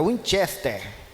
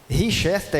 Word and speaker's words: Winchester: nome daquela arma errado Deixa eu ver se eu consigo pronunciar certo aqui é Winchester Winchester é isso Winchester é a forma correta de pronunciar richester é uma marca de biscoito Obrigado meu Alan obrigado